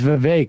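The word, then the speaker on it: Vivek: been doing for decad my name is V it rhymes with cake I wonder if RFK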